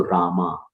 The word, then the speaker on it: Rama: uh in in English when we write it becomes a at the end so Rama Hare Rama Hare Rama and it's not a long a actually it's a address because